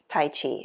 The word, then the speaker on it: tài jí: it justice but it's it's sort of like saying tai g more of a j sound but it's really difficult